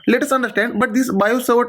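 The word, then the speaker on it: Biot-Savart: magnetic field strength is bio server law this is silent it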